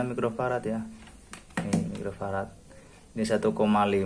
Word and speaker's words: mikrofarad: teman-teman yang buat si kapasitor ini mikrofarad Ini bacanya mikrofarad Ya nih mikrofarat ini 1,5 mikrofarat terus ini